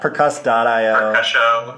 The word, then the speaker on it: percuss.io: the time like people aren't sure how to pronounce her name yes because I over Castillo yeah yeah percuss dot io yeah that's another one yeah I mean that's